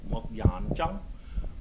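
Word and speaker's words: 木人樁: So in Cantonese, it's pronounced Mok Yan Zhang. Mok meaning wood, Yan meaning person, Zhang meaning standing. So a standing wooden person.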